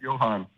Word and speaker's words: Johan: It's pronounced Johan, right? I just want to make sure I'm getting that right. Yeah. Yes. Yep. Yes, Okay. Johan.